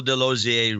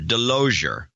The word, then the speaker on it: Delosier: Michael Delosier, probably, in Maryville, Tennessee, 26627. He'll be our first associate executive producer for show 1052. Once again, he writes, it is Michael Delosier, rhymes with enclosure. Delosier.